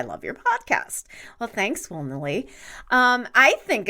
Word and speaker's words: Wilnely: In Spanish, I pronounce it the same way as it's spelled, Wilnely, Wilnely. In English, I omit the L because it sounds too close to will, so just Winnely.